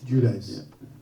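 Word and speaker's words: Giudice: how do you say guichi I I say judice judice you wrote about it what did you write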